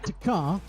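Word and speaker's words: T'kr: yes yes his name is his name is takar um how do you say it takar takar yeah it's spelled t apostrophe k r oh tar yeah but it's pronounced takar and some say when you're not being kind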